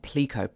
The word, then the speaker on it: Pleco: use to help you learn Chinese it's called picot PL e Co and this is the official pronunciation according to the developers of the app